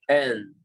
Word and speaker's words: in: So this sound is considered a short I, una I corta, in. We don't even open the mouth.